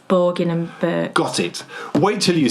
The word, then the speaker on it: Borgin and Burkes: Or is it Birkin and Borgs? It's not Borgin and Borkes? It's not, no, it's Borgin. Borgin and Burkes. It's Borgin and Burkes.